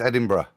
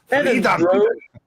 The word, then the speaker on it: Edinburgh: Yeah, but it's Edinburgh. Yeah. So both of them, to me, you pronounce the same. You don't say borough or burger.